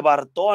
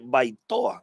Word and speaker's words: Baitoa: de la cuenta y no se dice btoa ni ni btoa se dice baitoa entonces para él no